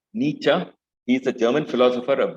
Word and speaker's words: Nietzsche: It's pronounced Nietzsche. He's a German philosopher, a very, very renowned 17th century German philosopher, Nietzsche.